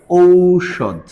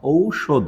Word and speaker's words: ঔষধ: এবার এইটার সূত্রে চলে আসো, ও কোনো শব্দের বানানে যদি ঔকার থাকে তাহলে সেইটা উচ্চারণে গিয়ে হবে হচ্ছে ও রস্বই হস। এই যে রস্বহস, তাহলে পারে ঔষধ, এইটা হলো ঔষধ। তাহলে এইটুকু তুমি শিখেছো, আমি তোমাকে শেখালাম যে ঔকার থাকলে উচ্চারণে গেলে ও রস্বহস দিতে হবে।